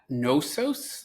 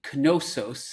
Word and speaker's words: Knossos: to pronounce its name is that noos like as in knowledge or no it's actually canosos as in Kish and if you don't